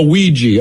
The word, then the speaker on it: Ouija: So it obviously it's I mean, that's why we have to go like, how do you pronounce that again? Oh, Ouija.